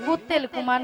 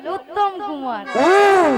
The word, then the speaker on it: উত্তম কুমার: দাঁত মাজবো মাসি তুমি দাঁত বাজবে ভালো করে উচ্চারণ হবে বলো শ্রী শ্রী শ্রী শ্রী শ্রী শ্রী শ্রী শ্রী কুত্তেল কুমার নয় বলো উত্তম কুমার ও উত্তম কুমার নিয়া পুড়ি যে আমি কুত্তেল